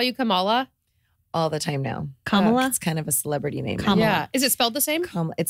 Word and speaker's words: Kamala: Kamala. Like a comma okay. and law.